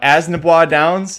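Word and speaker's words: Assiniboia Downs: Dennis is all excited about Asnabois Downs. That is the correct pronunciation.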